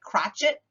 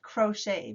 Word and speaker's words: crochet: silent knitting crochet oh it looks like crotchet but it's crochet because it's friends say